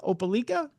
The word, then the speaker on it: Opelika: Is it Opelika? Opelika.